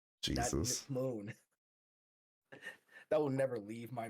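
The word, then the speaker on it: Ember Moon: as her partner and did not pronounce her name right she said Ember moo Jesus Moon that would never leave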